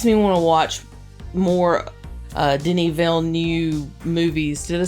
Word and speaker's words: Denis Villeneuve: It makes me want to watch more Denis Villeneuve movies. Did I say it right? Yeah, close enough. Denis Villeneuve.